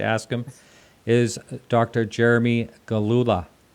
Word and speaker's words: Gillula: And I'm here with, and I hope I pronounce his name correctly. That's one thing I forgot to ask him, is Dr. Jeremy Gillula.